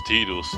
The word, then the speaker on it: Tidus: worth active, no one knew how to pronounce Tidus' name. Yeah. I always thought it was Tidus, but then it turned out it Tidus.